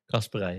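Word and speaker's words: Casparij: So, I've got, how do you pronounce the Man City right back again? Kasperai, yeah.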